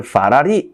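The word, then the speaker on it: 法拉利: 심지어 이 친구들은 페라리를 파라리 이렇게 말한단 말이에요. 그러니까 너의 그 쥐꼬리만한 월급으로 벤츠를 사겠다고 简直是杯水车薪 야, 진짜 그야말로 계란으로 바위치기지.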